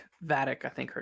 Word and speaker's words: Vadic: Vedic, I think her name is. Gotta make sure I'm pronouncing that right. Let me make sure. Vadic, yeah, I was pronouncing that right.